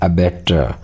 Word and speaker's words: abattoir: उसे कहा जाता है अबैटर, ABATTOIR। वैसे प्रोनाउंस आर का इसके अंदर नहीं होता, अबैटर कहते हैं, अबैटर यानी कसाई खाना।